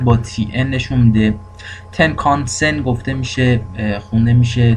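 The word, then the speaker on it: Tenkan-sen: ان که معمولا با تی ان نشون میده تنکانسن گفته میشه خونده میشه تلفظ میشه و با تی ان نشون داده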